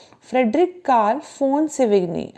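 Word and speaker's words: von: इनका पूरा नाम है फ्रेडरिक कार्ल फोन सेवेग्नी। आप कहेंगे वी को एफ क्यों? क्योंकि ये जर्मन थे, और जर्मन में जो वी होता है उसको एफ ही पढ़ा जाता है।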